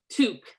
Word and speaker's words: toque: It's one syllable and it's pronounced toque. It's like an O with your mouth. Toque. Toque. Two. Mm. The Q has a K sound.